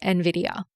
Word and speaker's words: Nvidia: So common that the company has come out and told everyone how to pronounce it. And they said it was Nvidia.